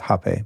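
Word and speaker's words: rapé: It's kind of spelled like rape, but it's pronounced hape by most.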